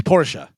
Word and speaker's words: Porsche: It's Porsche. It's actually Porsche. It's two syllables. Not Porsche. Porsche.